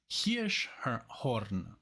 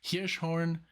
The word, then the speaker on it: Hirschhorn: So now we're gonna listen to Guru, the girl from Hirschhorn. That's how you say it in German, Hirschhorn. But I guess in English it would be Hirschhorn.